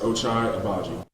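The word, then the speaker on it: Ochai Agbaji: people that don't know my name and how to say it it's pronounced ochai abaji so for everyone who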